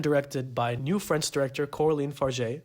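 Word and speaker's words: Coralie Fargeat: by new French director Coraline far no it's not pronounced Cory forat I should have probably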